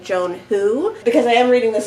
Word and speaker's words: Joan He: meant to find by Joan he although I think this is I think it's actually pronounced like Joan who because I am reading